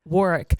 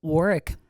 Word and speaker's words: Warwick: But they don't pronounce it like that. University of Warwick. Warwick.